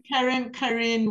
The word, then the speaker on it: Karen: It's pronounced Karen, Karen, actually, but I answered to Karen.